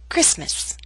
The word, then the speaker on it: Christmas: some words we always omit or leave out the tea for example Christmas never say Christmas only Christmas now here's a list